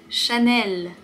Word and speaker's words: Chanel: Chanel. Chanel. Il n'y a pas de R, il n'y a pas de nasal, il n'y a pas de lettre muette. Celui-là, il est très très facile. Chanel.